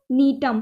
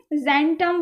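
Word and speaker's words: Gnetum: Female स्ट्रोविलस ऑफ नीटम, ठीक है, जेंटम वेंटम मत बोलना, ठीक है, नीटम ही बोलना है। तो ये आपका यहाँ पे जी जो है वो साइलेंट है इसलिए।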